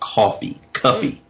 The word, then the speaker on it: Cuffe: His name is Paul Cuffey. His last name is spelled Cuffe.